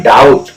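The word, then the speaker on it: doubt: बी टीय क्या है डाउट अब यहां पर भी देखो टी से पहले बी आ गया तो इस जगह भी हम बी को साइलेंट रखेंगे इसे पढ़ेंगे डाउट डाउट मीस होता है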